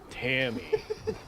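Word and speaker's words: Ta'may: Mostly silent letters. Yeah, the A Right. is silent.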